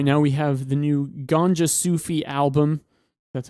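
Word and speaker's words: Gonjasufi: Now we have the new Ganja Sufi album. That's how you pronounce it.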